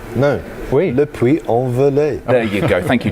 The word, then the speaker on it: Le Puy-en-Velay: we are right now, Le Puy-en-le-Velay. I've got it wrong again, Le Puy, what is it? How do you pronounce it? Le Puy-en-le-Velay. There you go. No. Oui. Le Puy-en-Velay.